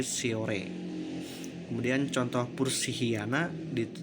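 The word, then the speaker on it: Shorea: Contoh tulisan Sehorea maka diucapkan sebagai Siore.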